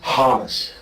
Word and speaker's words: Hamas: Khaled is a Hamas supporter. Okay. Is a who supporter? Hamas.